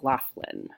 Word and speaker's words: Loughlin: Felicity Huffman and Lorri Lohan I'm not sure lowland Lola and lalin have been charged in the scam dumped out of pronounce Lori Loughlin okay so she and her husband Massimo grenouille